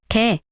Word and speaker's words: 게: You can't tell them apart just by sound. However, they are used in different words, so when you study vocabulary later, you need to remember whether it's e or e. For example, ke means dog and ke means crab.